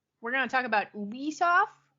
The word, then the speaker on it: Ubisoft: Ooh, we're going to talk about UISoft, right? According to the company, it's pronounced Ubisoft.